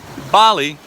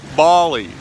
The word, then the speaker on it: Bali: Blue Lagoon Bali Bali Australians say Bali Americans say Bali and you know what